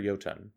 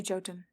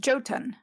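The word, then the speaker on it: Jotun: So I always second guess myself because um in the in on Earth, right, Nordic a lot of Nordic languages don't pronounce the J sound.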